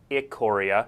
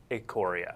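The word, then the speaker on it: Ikoria: tharros beyond death or it Korea yeah you may not have heard it pronounced that way before I was told immediately before the show it is a Coria it Koryak or short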